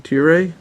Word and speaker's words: Tiere: So Kevin Tiere? Tiere? I said it right the first time, and then I tried it differently the second time. Just one syllable. The E is silent, huh?